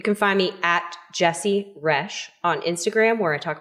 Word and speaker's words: Roesch: You can find me at Jesse Rash rhymes with fresh on Instagram. Nope, that's not my tag. That's not it. Yep. You can find me at Jesse Rush on Instagram where I